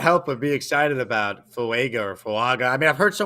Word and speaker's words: Fuaga: I mean, I can't help but be excited about Fuaga. I mean, I've heard so many different ways, by the way, we pronounce his name. Like Dom C said that it's Funga, according to Funga himself.